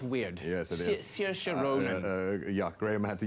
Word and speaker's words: Saoirse: I'm particularly interested in a young lady named Saoirse Ronan. It's a name that's very difficult to say when you see it. It's spelled weird. Yes, it is. Saoirse Ronan.